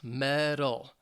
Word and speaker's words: medal: about the pronunciation, because the word medal, M-E-D-A-L, it sounds very similar in American English to metal, M-E-T-A-L.